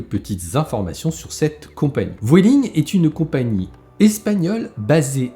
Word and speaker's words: Vueling: s'agit de vueling alors les chipoteurs vueling welling je vais là prononcé à la française je vais dire vueling on passe en revue